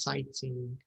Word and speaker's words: sightseeing: هي زيارة أو رؤية المعالم السياحية أو المشهورة أو this is what it means, sightseeing. Okay? Silent. Sorry? Razan? IGH silent. Yes. GHG. Sightseeing. GH in English is usually silent.